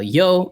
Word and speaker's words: Yeoh: It is the new Michelle Yeoh movie.